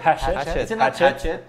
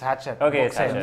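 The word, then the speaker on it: Hachette: pronounce this hash Hatchet hatet I think it's hatet you you spell hatet like like machete yeah so so basically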